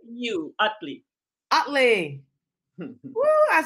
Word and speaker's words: Ottley: four today i am joined by dr otley did i say that right you said it right it pronounced like you utley utley i said it right well welcome thank